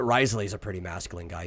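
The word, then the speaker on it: Wriothesley: Risley uh in genin it's spelled the W at the beginning frenchly so like it's like r uh but Risley is a pretty masculine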